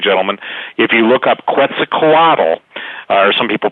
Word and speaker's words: Quetzalcoatl: So what that means is that the shapeshifters, and by the way, ladies and gentlemen, if you look up Quetzalcoatl, or some people pronounce it Quetzalcoatl, the great Aztec god, the giant gods of